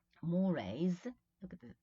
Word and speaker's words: mores: Mores, look at the pronunciation, mores, which is customs, conventions, right?